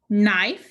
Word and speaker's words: knife: The I is long, the E is silent. Let's sound this out. Knife.